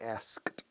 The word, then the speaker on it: asked: Como siempre, como la K de asked.